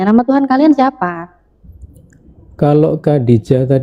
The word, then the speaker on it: Khadijah: Seperti Khadijah itu sebenarnya Khadijah, bukan Khadijoh atau Ya.